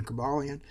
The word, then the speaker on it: Cobalion: a cabalian uh which some people pronoun pronounce various other ways but I prefer the pronunciation cabalian in my hand I